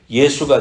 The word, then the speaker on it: 예수: 지저스 이렇게 말하는 거예요 그래서 예수 발음이 원래 원화에 가깝습니다 예수 그래서 한국 민족이